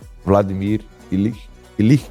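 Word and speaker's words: Vladimir Ilyich: Vladimir ilich é assim que pronuncia.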